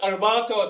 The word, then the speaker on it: arato: to our sponsors arato I can't pronounce that arato that's how they call it and Accenture and of